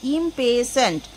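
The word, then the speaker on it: impatient: পেশেন্ট মানে হচ্ছে ধৈর্য ইম্পেসেন্ট মানে হচ্ছে অধৈর্য ইম্পেসেন্ট এখানে টি সাইলেন্ট থাকবে উচ্চারণ হবে না ইম্পেসেন্ট দিস সেই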